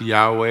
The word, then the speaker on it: Yahweh: is the translation of four Hebrew consonants it is either gonna be pronounced yahweh or jehovah there's no vows to help us to do that but